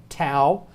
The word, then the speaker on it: tau: on the vocabulary tests tao exactly like our tea but they pronounce it tau two words for that